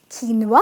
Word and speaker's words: quinoa: parmesan its parmezon with a z in the pronunciation, its not pesta its pasta ok,it’s not qio-nua its keen-wah (quinoa) say it with me keen-wah sounds really